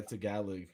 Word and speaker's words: Tagalog: Tagalog or Tagalog, is that how you pronounce it? Yeah, Tagalog.